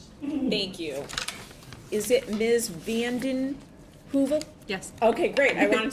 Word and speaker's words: Vandenheuvel: Vandenheuvel? Yes. Okay, great. I wanted to make sure I pronounced it correctly.